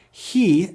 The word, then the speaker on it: Chi: Rather than having a CH or K sound, he sounds more like an H with plenty of friction. Place the tongue near the top of your mouth and pronounce H like a cat hissing for this letter.